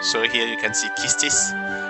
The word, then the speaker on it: Quistis: here you can see kistis right now no gf is junction i don't know do you say kistis or quistis i think it's justice right the u is not pronounced really is it all of the comments